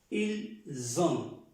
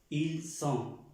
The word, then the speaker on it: ils ont: no tenemos esta S, ya esta S se pronuncia como una Z. Ils ont, la Z, son, Z,